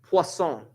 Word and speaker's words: Poisson: Anyone taking French? No? Poisson. Yeah, it's poisson.